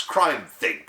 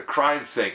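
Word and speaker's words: CrimethInc: I kid you not c-r-i-m-e-t-h-i-n-c pronounce crime think or some such thing he described them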